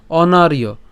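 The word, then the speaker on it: অনার্য: কুতস্তুয়া কসমল মিদং বিষমে অবস্থিত এরপরের লাইনে আসি অনারিয় হ্যাঁ কেন অনারিয় কারণ আমরা জানি যে অন্তস্থ জোরের উচ্চারণ কার মত হয় ইয় এর মত হয়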